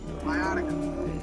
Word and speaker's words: Viotica: How you pronounce the merge tribe name? Viotica.